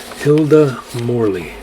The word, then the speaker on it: Morley: it and hilda morley hilda morley pretty much spelled like it is morley is m-o-r-l-e-y